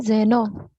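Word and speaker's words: xeno: Sir pronunciation क्या है? जेनो। जेनो, जेनोमेनिया, फॉरेनर्स या फॉरेन थिंग्स, फॉरेन थिंग्स।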